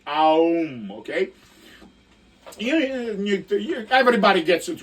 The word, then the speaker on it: Om: You're supposed to go like Om from your belly, and it's supposed to be Aum, okay?